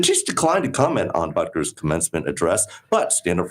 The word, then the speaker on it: Butker: Butker, which rhymes with bunker, attacked what he called,